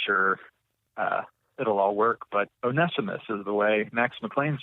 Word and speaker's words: Onesimus: it right and I'm gonna go with onesimus today as the proper pronunciation Onesimus but we could probably come up with all kinds of ways to mess up that name we could call him once I miss or onesimus or any